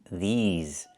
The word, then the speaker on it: these: I cannot use the short i like this is. I need the long e like green beans. These plus the zz sound like in zebra and zipper.